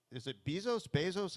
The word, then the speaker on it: Bezos: Have you ever met Bezos? How do you pronounce his name?